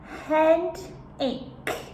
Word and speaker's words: headache: number one we have head ache head a remember the pronunciation here a c h e is just the C the k sound head a this is